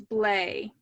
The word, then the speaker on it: Blake: qualifier it's kyle blake the s is silent it's blay okay perfect thank you